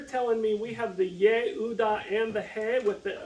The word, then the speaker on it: Yehuda: Which in Hebrew is pronounced what? Yehuda. Close. It is Yehuda. Why? Because you got to pronounce that J. Or the Y. Okay, they're the same in Hebrew.